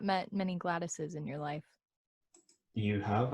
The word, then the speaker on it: Gladys: on the name pronunciation it's gladys what's okay that's not goddess is gladys is fine how did you think